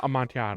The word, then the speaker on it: Amontillado: How do you pronounce this? The Cask of Monte Cristo? No, the cask of Amontillado? Amontillado.